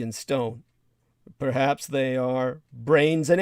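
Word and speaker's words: branes: the microgravity worlds of brains and in the quantum physics and geometric terminology that's spelled b-r-a-n-e-s mind you not brains like human brains but brains in the equation sense b-r-a-n-e-s and super strings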